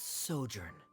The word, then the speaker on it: sojourn: Director Zosimos, how do you pronounce this word? Good call. Let me see. Ah, that's sojourn.